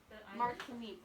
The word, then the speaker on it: Martinique: one of them islands martinique is that how you pronounce it is it more tonique martinique yeah yeah mark mark to me